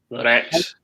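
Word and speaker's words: RECS: it's called the rex it's not spelled with an x so it's a r e c s r x rex as in t-rex as in the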